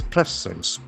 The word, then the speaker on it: presence: So this is a very interesting noun where the accent falls the first syllable. Present. Presence. The letter S has got Z sound also.